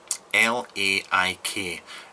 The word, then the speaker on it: Laik: they're called Laik Mods, L-A-I-K. Now he sent me a pronunciation guide. It's L-A-I-K, you say it like you say like, so Laik.